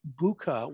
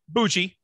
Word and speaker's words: Bucci: And it's my pleasure to bring from Kentucky, Buka.